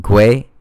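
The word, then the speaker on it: gwei: gas amount and 60 I think it's pronounced gray so for your recommended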